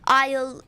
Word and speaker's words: isle: Um so isle it sounds like isle and a i l e. Um but then I accidentally put i l e. So you need to be careful about the silent letters because I got that wrong because um I didn't I didn't put the silent a.